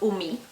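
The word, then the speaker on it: 海: Here when it's just by itself, it's pronounced umi, the sea or the ocean, and it has a radical.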